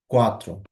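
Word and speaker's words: quatro: চারকে আমরা বলবো হচ্ছে কোয়াত্রো। তার মানে এখানে যদি পুরোটা আমরা এখন বলার চেষ্টা করি, জেরো, দোস, ত্রেস, কোয়াত্রো।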